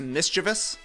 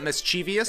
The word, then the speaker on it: mischievous: isn't like the mess up here that it's pronounced mischievous not mischievous hey that's a problem as well yeah yeah